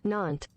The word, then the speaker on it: Nantes: Nantes. Why do I just not remember that they don't say ESs? I should know that. Nantes.